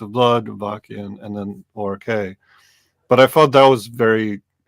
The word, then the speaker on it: O.R.k.: And I'm gonna screw up pronouncing the band you mentioned before, O.R.k. Is that? Yeah, O.R.k. Yeah. O.R.k.